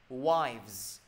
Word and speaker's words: wives: Mọi người nhớ nha, chứ không đọc là with nhiều người. Mọi người lâu lâu mọi người quên cái phát âm á. Mọi người đọc là with là người ta không hiểu đâu.